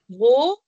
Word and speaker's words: gros: de billes et un gros, Gros. Gros. On ne prononce pas le S.